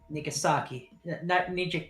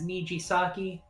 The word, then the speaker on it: Nijisaki: Cradle Pharmaceutical Chief of Staff Nagisa Nigasaki. Nijisaki? How do I pronounce that name? It's a bit late. Yeah, it's Nijisaki. Cradle Can you Pharmaceutical.